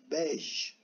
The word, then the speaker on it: beige: Tabi bayge de, diyorken de yanlış diyorum ben. Bunun okunuşu bayge değil, bej.